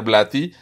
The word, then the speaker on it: Blatty: Y si el la pronunciación correcta es William Peter Blaty, inclusive en inglés eh del UK es William Peter Blaty, o sea, es más pronunciado a una.